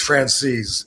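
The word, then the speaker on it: Francesa: yeah mik FR he the way he pronounces it is Frances a lot of other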